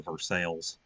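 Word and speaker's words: Versailles: can always go to vers Sals here we go no that's how that's actually how it's pronounced that's that's how you pronounce it yeah my husband uh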